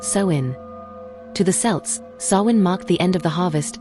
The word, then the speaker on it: Samhain: The origins of Halloween trace back over 2,000 years to the Celtic festival of Sin, pronounced soin.